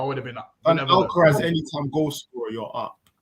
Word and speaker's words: Alcaraz: I just said, listen, that Alcatraz guy, even now I think I'm saying his name wrong. Alcaraz.